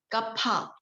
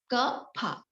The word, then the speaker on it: Kapha: Pronunciation Kapha. Kapha.